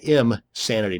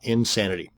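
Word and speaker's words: Imsanity: another one is insanity that's im sanity not insanity both of these once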